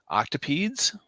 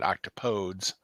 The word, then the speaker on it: octopodes: wrong and they're saying the pronunciation more appropriately rhymes with the phrase don't say please so it would be octopedes oh but it's in